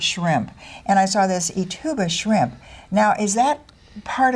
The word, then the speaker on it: Ithuba: So I was trying to do it all phonetically because we're going to be talking about Ithuba shrimp.